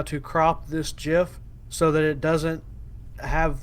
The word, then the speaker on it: GIF: And I want to figure out how to crop this GIF so that it doesn't have the caption that's on it.